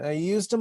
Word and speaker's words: ejusdem: up already and so if you think about the way you would say i used them um that's how actually we pronounce this canon i used them up i used them generous and that's our canon here if you um want the old french pronunciation okay so this is